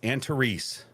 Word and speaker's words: Antares: Antares, is that what it is? Antares? Tanya's texting me saying it's Antares.